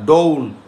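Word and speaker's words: dawn: এট ডাউন হবে কোনটা এটার উচ্চারণ কিন্তু ডাউন না ডোন ঠিক আছে ডোন ডোন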